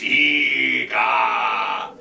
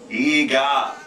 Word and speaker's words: Eegah: He's about 8 feet tall, and he terrorizes a rock star, and I don't know all that, but it's Eegah. Spelled with two E's. G-A-H. Eegah.